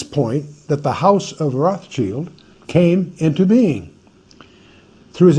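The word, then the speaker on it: Rothschild: German that's Roth sh Roth Shield red shield we mispronounce it and call it Rothchild no it's actually not Roth's child it's red shield is what the term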